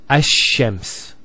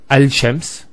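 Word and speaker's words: الشمس: So it's Ash-Shams, not Al-Shams. Because notice when you say Al-Shams, it's not smooth. Rather than Ash-Shams, which flows and is nicer to hear.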